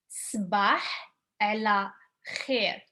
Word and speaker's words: صبح على خير: The reason why I say like you might find this hard to pronounce at the beginning because it ends with h over here. It starts with the and then you go and there is the kh sound.